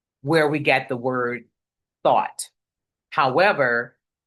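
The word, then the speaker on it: Thoth: we got the word thought. However, because it's t h o t h, we can reverse that pronunciation and we come out with the word or the name thought.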